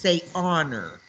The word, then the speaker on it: honor: you'd say in honor you don't have to pronounce the h in that word you just say honor okay okay valtron his